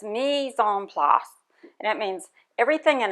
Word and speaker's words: mise en place: And there's a French word for it, and I learned how to pronounce it today on YouTube. It's mise en place, and it means everything in its place.